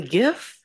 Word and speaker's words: GIF: just Googled it said he called it a gift with a soft G choosy developers he said